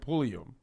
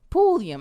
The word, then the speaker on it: Pulliam: a uh is that is it pullman what is it did i say it wrong that's it what did i say tatiana okay night polium poolium i said polium i'm sorry solroy keisha night pulliam